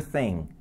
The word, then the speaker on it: thing: E esse G de thing, você não pronuncia, tá? Sure thing, thing.